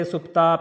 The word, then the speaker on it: Supta: Don't say Supta, please. Supta. And here it is U, right? Single. So, it is a Supta, a small U sound.